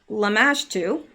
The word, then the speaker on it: Lamashtu: where I started and this is lamashtu and that's how it is pronounced I know that's correct is the mother and